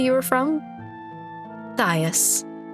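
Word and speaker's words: Thais: Thias. Or perhaps Thies, but I've always pronounced it as Thias.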